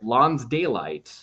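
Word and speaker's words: lonsdaleite: is so somebody's asking here's how you spell it it's called Lawns daylight so l-o-n-s-d-a-l-e-i-t-e so kind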